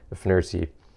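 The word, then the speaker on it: FNIRSI: So here it is here, the F-NIRSi, or the F-NIRSi, I believe is the correct pronunciation, soldering iron.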